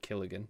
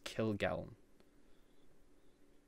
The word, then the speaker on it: Kilgallen: game kill Gulen Kilgallen I realized I pronounced his name wrong when I've done that all my life it's not kill again it's Kilgallen okay clearance by Shawn